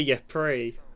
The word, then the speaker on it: Ypres: No, I think it is called Ypres. It's Ypres. Oh, is it? Yeah, that's how you Ypres. pronounce it. Oh, French. Yeah, it's French.